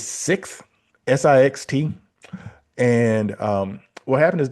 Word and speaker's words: Sixt: I don't even know if I'm going to pronounce it right. It's Sixt, Sixt.